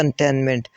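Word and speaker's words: containment: और एक लास्ट पे तो जो सेकंड वाला टी है वो इसकी प्रोनंसिएशन होती है कंटेनमेंट तो सेकंड वाला टी यहां पर साइलेंट होगा के सिनोनिम पूछा गया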